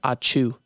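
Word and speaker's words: ačiū: I know in Lithuanian, thank you is achu, like a sneeze.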